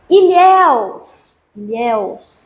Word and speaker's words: Ilhéus: Ilhéus, cidade linda, né? Eu ainda vou, não a conheço, ainda vou em Ilhéus. Ilhéus, 2 sílabas. Ilhéus, é oxítona.